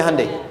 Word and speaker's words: Hyundai: Hyundai kan dibacanya Hyundai, ya kan?